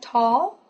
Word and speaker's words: tall: you hold it so say well again like tall tall tall tall yellow yellow so when L